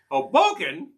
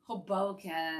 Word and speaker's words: Hoboken: just sounds homey Hoboken you need to actually pronounce this put the accent on the second syllable one you've got it Hoboken Hoboken you know it's a